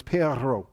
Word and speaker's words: perro: word for dog well you're supposed to be able to roll your r's I can't roll them very well but it's perro something like that in English